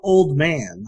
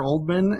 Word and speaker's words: Oldman: at the beginning too, because it's written like Ann Oldman, but every time they call her Oldman, and like several characters like constantly try to say Oldman, but she always corrects them, says it's pronounced Old Man.